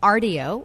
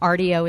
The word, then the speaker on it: Rdio: And also listen to us on RDO, which is an app you can download for free, RDO, and also the WABC radio app.